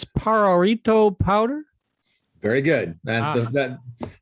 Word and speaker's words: Pajarito: briefed before the show on the how to pronounce the name of the company it's pararito powder very good that's the important important first